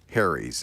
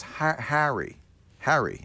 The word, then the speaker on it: Harry's: there is a better way and it's called harry's and i really highly recommend you check it